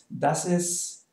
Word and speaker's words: ist: note how i pronounce ist maria this is marcos like i said usually we don't pronounce the t okay so um if